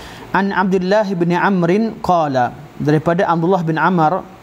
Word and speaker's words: Amr: Sebab waw itu, waw yang kat hujung Amru itu menentukan, atau salah satu kaedah orang Arab pada zaman dahulu, mereka meletakkan waw di hujung kalimah ain mim ra untuk menerangkan tentang cara baca terhadap kalimah ain.